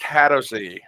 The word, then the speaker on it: Hadozee: to use poo as a ranged Weapon It's pronounced hadozee and we don't know what they look like